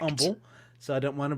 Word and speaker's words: Humble: So this, if you were visiting in Humble, because I think the H is silent, right? It is. Yeah, yes, so that's correct. Humble, so I don't want to piss off our Humble, viewers.